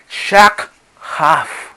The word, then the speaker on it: shakhaf: que en este sentido, esta raíz primaria lleva el acento o la tilde en la primera letra A y no en la última.